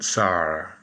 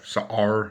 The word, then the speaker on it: Sa'ar: So the Israeli Minister of Foreign Affairs, Gideon Sa'ar, it's S-A apostrophe A-R, Sa'ar, I guess that's how you pronounce his name.